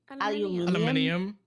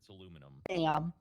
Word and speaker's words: aluminum: say that other word aluminum aluminum I can't say it aluminium you need to pronounce it aluminum we're not even adding letters to the word call Al it's I I mean I just can't believe you can't pronounce the word properly kind of okay letters